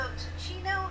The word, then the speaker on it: Ticino: It's Tachino. Wirecast go down. And you cannot start it, so. It's on Swift. We will not do that. So, Ticino is a Swiss canton, which means a federal state, I guess.